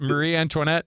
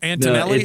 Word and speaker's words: Antonelli: yeah it's uh it's is it Marie antoinet no no Antonelli is that the guy's name Antonelli yeah that guy